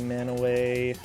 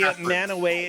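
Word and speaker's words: Mantua: spelled the same m-a-n-t-u-a but you probably don't say it man away yeah probably not nanoways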